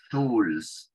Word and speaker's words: tools: Esa doble O que hay en esta palabra se pronuncia como una U. Una U larga, una U como la que tenemos nosotros en español, pero un cachitito más larga.